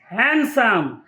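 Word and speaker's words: handsome: না so start bridge D silent গ্র্যান্ডসন D silent হ্যান্ডসাম D silent হ্যান্ড খারচিপ D silent grand daughter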